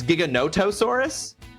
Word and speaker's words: Giganotosaurus: Giganotosaurus, you used to say it like gigantic, but it's Giganotosaurus. Giganoto notos.